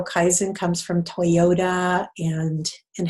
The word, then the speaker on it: Kaizen: and these these last moments here mmm so Kaizen that's the way it's pronounced when people go Kaizen whatever what Kaizen